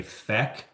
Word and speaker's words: feck: saying the F word, he would pronounce it with an E instead of a U. So he would say feck instead of, the actual F bomb.